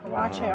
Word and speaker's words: waakye: Waakye. Oh, that's how you pronounce it.